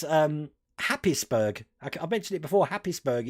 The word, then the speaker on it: Happisburgh: Happisburgh in Norfolk, which is Haysborough, but it's spelled Happisburgh.